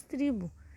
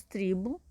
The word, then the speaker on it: tribo: Porque geralmente as palavras que terminam com u mesmo, elas têm a última sílaba, essa daqui, tônica, forte. Não é igual essa que é átona. Então, no caso de urubu, né? O bu é a sílaba forte, termina com u. E aqui, ó, tribo é uma sílaba fraca, termina com o. Por isso que nós falamos u, mas ela é terminada com o, tá?